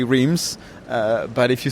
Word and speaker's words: Reims: you got it right it's R not RS I'm sorry for uh those who thought it was RS but it's spelled r e i Ms people can be forgiven